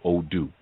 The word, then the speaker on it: Odu: itself through something that we call odoo which is spelled odu and odu actually means